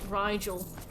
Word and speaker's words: Rigel: our time all right regal or maybe it rhymes with nigel rigel there we go i keep